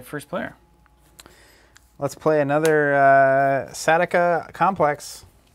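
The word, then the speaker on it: Sautekh: Let's play another Satika Complex. How do you say that? Sawtek.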